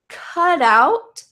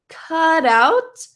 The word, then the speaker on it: cut out: here really quick because in American English we love to turn T into a D sound so it's possible this